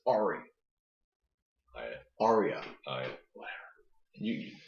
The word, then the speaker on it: Arya: It's Ari. It's good. I've listened to the audiobook. It's Ari. Arya. Whatever. You pronounce it wrong or your life.